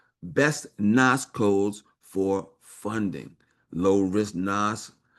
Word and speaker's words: NAICS: The name of this article is called best NAS codes for funding low-risk NAS that banks like. Okay. And NAS is called is spelled N A I Cs.